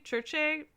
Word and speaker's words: Circe: But the one that she specifically commissions is the story of Circe or Circe, Churche. People pronounced it every possible way in different videos I watched, but who is like